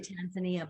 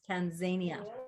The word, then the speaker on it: Tanzania: will you be visiting I always say it wrong I always want to say Tanzania but it's Tanzania I don't I don't